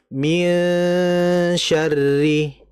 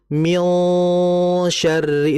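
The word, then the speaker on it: مِنْ شَرِّ: Contohnya min syarri. Kalau kita baca min syarri itu ketebalan. Ya, dia harus tipis. Min syarri.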